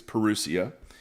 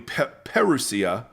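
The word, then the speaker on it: parousia: perusia but I like I think it's perusia it's how you pronounce it and it it's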